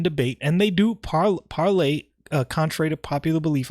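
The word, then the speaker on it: Parler: and they do par parlay uh contrary to popular belief i always call it parlor even though they pronounce the website parlay but it's spelled parlor p-a-r-l-e-r it's not up right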